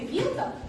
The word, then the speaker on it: вилка: Ударение падает на «и».